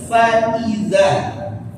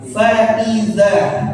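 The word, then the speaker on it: فَإِذَا: Fa hamzah zal. Fa'idza. Faiza. Baik. Jangan dibaca faiza.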